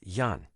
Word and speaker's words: 癌: oil retrieval from herbs the correct pronunciation of this word is yon not I but the problem with